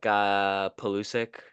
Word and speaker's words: Pulisic: And then one of the refs didn't even shake like Pulisic.